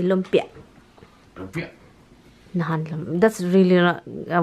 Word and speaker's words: lumpia: Guys, Tommy would say lumpia. Lumpia. Nahan, that's really a word. Yeah. Lumpia. Lumpia. Yeah, good. A heavier accent on the end of that word.